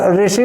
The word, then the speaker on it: ऋषि: जैसे आप ऋषि बोलते हैं, ऋषि में र का उच्चारण आप करते हैं, ऋ का उच्चारण नहीं करते ऋषि, क्योंकि थोड़ा सा जिह्वा